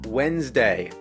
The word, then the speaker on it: Wednesday: week it's spelled like wetness day but you pronounce it Wednesday what's with the silent letter is silent be